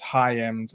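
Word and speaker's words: Hyam: talk TV recently and I think we mispronounced his uh surname so it's highend so um just putting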